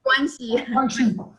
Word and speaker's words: 关系: 关系.